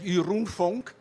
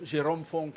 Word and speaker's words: Jeroen: Sí, mi nombre es Jeroen Vonk. Se escribe de una manera, se pronuncia de otro. Jerome Vonk es un poco más fácil y en buen criollo sería Jerónimo.